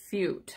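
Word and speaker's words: Feucht: And then the next scene of the dream, Sean Fute, I think that's how it's pronounced. His name is spelled F-E-U-C-T.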